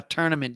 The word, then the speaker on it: tournament: yesterday that i said people who pronounce the word tournament as tournament just i don't know why that happens it's tour it's t-o-u-r tour not tur tournament not tournament another award